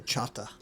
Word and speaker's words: Choctaw: They say Choctaw, Louisiana. So we were in Louisiana at that point, and yeah, it was funny because on our way down Did you tell them they were saying it wrong? yeah, exactly. Yeah, I was like, no. hey, we got this Choctaw, and they're like, oh no. They say chata.